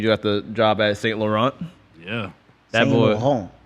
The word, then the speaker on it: Saint Laurent: got the job at Saint Laurent. Yeah. That Saint boy. Laurent. Saint Laurent. Whoa, you gotta roll the tongue. You gotta put the "on" in your voice. You know you Saint Laurent.